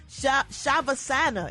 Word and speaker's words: shavasana: was performing The Corpse pose also known as shavasana if I said it right cat s-h-a-v-a-s-a-n-a and